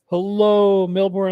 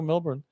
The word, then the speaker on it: Melbourne: Hey, hello, Melbourne, Australia. I always wondered what people look like in Melbourne, Australia. They have big eyes down there. Anyway, that's fantastic. Hello, Melbourne.